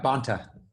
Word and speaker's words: Bonta: and San Leandro he is Rob is it Bonta I'm saying it right yeah Bonta Bonta yeah thank you so much for speaking